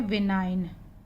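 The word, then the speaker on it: benign: विनाइन, जी silent हो जाएगा, विनाइन।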